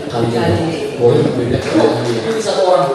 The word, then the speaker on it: Kalijodo: Jadi cara bacanya Kalijodo.